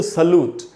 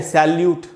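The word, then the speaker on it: salute: उसके बाद दोस्तों सल्यूट। अब इसको हम बोलते हैं सैल्यूट। उसने मुझे सैल्यूट किया, मैंने उसको सैल्यूट किया, एकदम गलत उच्चारण है। सैल्यूट नहीं होगा दोस्तों, सल्यूट।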